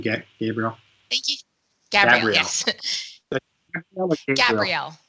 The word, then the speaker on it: Gabrielle: But pronouncing it Gabrielle is a very common, a lot of people, I've met people from like Italy, let's say, and they pronounce it with like they're singing an aria where they go Gabriella. So it really depends on, who's talking.